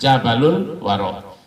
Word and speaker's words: Jabal Al-Waro: Jadi kalau ditulis boleh begini tulisannya, Jabal Al-Waro. Nanti dibacanya Jabalul Waro.